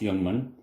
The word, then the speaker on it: Ljungman: engineer at the cj jungman pump company at melmo sweden and you'll often hear these referred to as young ones spelt l-j-u-n-g-m-a-n pronounced youngman and so that company